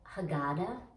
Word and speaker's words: haggadah: we read from the haggadah you can sometimes hear that pronounced haggadah it just depends on who's saying it i've heard it both ways we praise adonai our